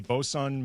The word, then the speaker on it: bosun: I had to write it out phonetically to make sure I could pronounce it correctly. Didn't get it right. Yeah. According Bosun.